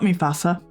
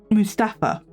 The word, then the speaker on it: Mustafa: His name is not Mufasa. That's the lion from the Lion King. It is Mustafa. M U S T A F A. I have been saying it wrong.